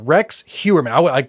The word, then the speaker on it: Heuermann: Heuermann. Heuermann, Yes. yeah. Rex Heuermann. I mispronounced his name the first few times I